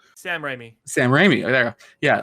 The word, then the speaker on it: Sam Raimi: No, wait, I'm saying his name wrong. Sam Raimi.